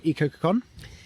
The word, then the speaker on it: Ecococoon: in uh in suffolk um they are from ecocacon yep am i saying that right you are